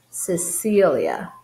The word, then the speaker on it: Cecilia: If C is followed by letter E or an I, it's going to have a soft C sound, which is same as S sound. S. That's why her name is Cecilia.